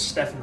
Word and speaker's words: Stephen: you might notice that I pronounce that with a PH because if his parents wanted me to say it with a V, they would have fucking spelt it with one, getting off to people with dwarfism.